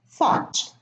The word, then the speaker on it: thought: Fought, sought, and thought.